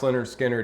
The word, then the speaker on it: Lynyrd Skynyrd: in 1973 pronounced leonard skinner hit the charts and